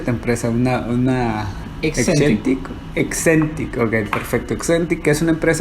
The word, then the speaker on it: Hexentic: ¿Cómo se pronuncia tu empresa? Excentic, ok, perfecto.